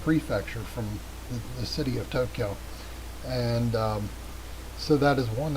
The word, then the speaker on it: Tokyo: So we are trying to get to Tokyo, and by the way, that is not a 3-syllable word. It is not Tokyo. It's 2 syllables. It's Tokyo, which is the circle, the red circle on the left.